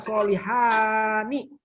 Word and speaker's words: Solihani: Namanya Solihani. Jangan dibaca Solihan dengan tanwin.